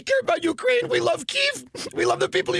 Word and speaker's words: Kyiv: See, us plebes pronounce it Kiev, but they call it Kyiv because they're insiders. It's Kyiv.